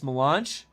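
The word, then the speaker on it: mélange: It's more French. It's milange. Oh, it's milange.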